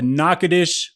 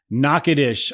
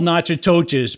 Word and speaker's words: Natchitoches: spell it correctly so n a t c h i t o c h e s Excellence spelled nachatoches but don't say it that way why oh because